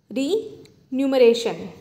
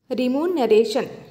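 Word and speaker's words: remuneration: म्हणजे काय होते तर रिन्यूमरेशन रिन्यूमरेशन रिमुनरेशन इथे स्पेलिंग व्यवस्थित बघा आर एम एन आरटी मनरेशन म्हणजेच काय होते सम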